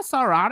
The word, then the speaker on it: Sarah: is everybody using sora sarah sarah i pronounce this like air arrow round one ready go